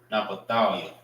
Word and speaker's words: Naphtali: I used to have troubles pronouncing that. Na pa thalia. Thou ya. Naphthalia. Na pa thou ya. All right. Which is Naphtali. Naphtali. All right. Naphthalia. That's how you say Naphtali in the Hebrew.